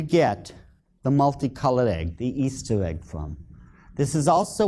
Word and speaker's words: Ishtar: But if you check the original transliteration, the Babylonian one, it is still pronounced Easter to this very day.